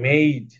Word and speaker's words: made: এখন তুমি যদি এখানে মেয়ে, এটা এটা এটা কি, এটা আছে কি MADE, তুমি যদি মেড বলো তাহলে তো অবশ্যই ভুল, বলতে হবে মেইড, লেক, তাই না?